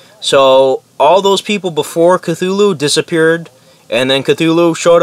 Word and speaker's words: Cthulhu: God I thought the names thing was called Cthulhu and I later on found out it's pronounced Cthulhu I had no idea so I thought it'd